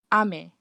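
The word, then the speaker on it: 雨: High low is a rain. Low high is candy. So what Shazrin meant is this one, the pronunciation, high, low. So this one actually refers to rain, and then the other one, low, high. This one is actually candy. So the first one I'd say ame, which is rain, and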